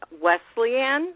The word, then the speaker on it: Wesleyan: Well, I also read in your bio, of course, that you received a BA from Wesleyan.